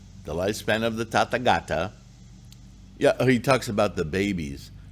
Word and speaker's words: Tathagata: tata gata because the tata gata which is the proper way to say it not buddha the tata